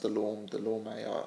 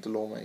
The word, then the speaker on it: Dulorme: I think, Thomas, I've heard his name pronounced Dulorme. I think Dulorme seems to be the consensus.